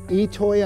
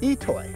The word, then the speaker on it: I'itoi: I t o but it's pronounced itoy that's how you pronounce this so if you get